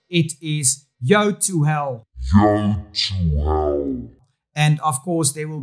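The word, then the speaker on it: Yotuel: is a brand that is very difficult to pronounce it is Yo to hell and of course there will be a link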